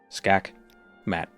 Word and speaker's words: Skakmat: Even Skackmat has three syllables sort of. I would say it only has two. Skakmat.